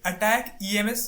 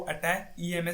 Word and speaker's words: ATACMS: तो देखिए, इसे जो है वो अटैक EMS पढ़ा जाता है। इसको जो है वो प्रोनाउंसिएशन जो है वो अटैक EMS से किया जाता है।